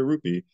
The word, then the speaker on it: rupee: says give me a rupe stalk real lie don't pronounce it like that give me a rupee and I will write a